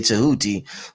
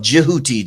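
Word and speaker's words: Djehuti: They might even say Tahooti. But the actual pronunciation of Jiuti, the D and the J.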